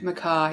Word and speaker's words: McKay: right is that like it's it's maai oh okay Maka yeah that's how the Scottish pronounce it please just call me